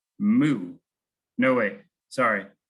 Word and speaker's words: mu: represented by this funky looking u which is pronounced mu no way sorry mu it's lowercase m n is the number of